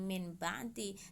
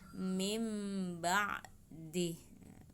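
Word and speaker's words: من بعد: Contohnya min ba'di, nun sukun ketemu ba, bacanya bukan min ba'di, tetapi nun sukunnya diganti dengan huruf mim, jadi mim ba'di, mim ba'di.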